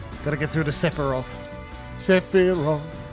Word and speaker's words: Sephiroth: Sephiroth. I keep pronouncing the P accidentally.